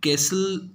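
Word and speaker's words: castle: ऐसा belongs to बेटा यहां सीएससी एलईडी कैसल इसको पड़ते हैं लिखा तो क्रिस्टल है लेकिन यह साइलेंट होता है इसको कैसल पड़ते हैं दरअसल बिलॉन्ग टू एंड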